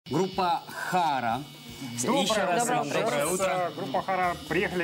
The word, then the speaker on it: Хара: Ну, если с ударением Хара. Хара.